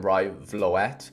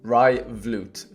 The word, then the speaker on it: Rai Vloet: I used to call him Rai Vloet, just because that's how my brain wants to pronounce it. But my Dutch friends seem to let me know that you pronounce it Rai Vloet.